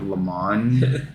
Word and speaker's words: Le Mans: Prime video so if you just look up Le Mans Le Mans Amazon Prime for at least a little while yeah and that's spelled Le space m-a-n-s yes racing is everything